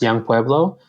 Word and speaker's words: Yung Pueblo: places it's um so the name that I write under is Yu ngore pbl o pronounced young poblo and um you know